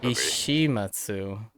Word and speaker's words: 石松: Ishimatsu. Oh, we mixed up a bunch of syllables. I said Shimizu? Yeah, Ishimatsu.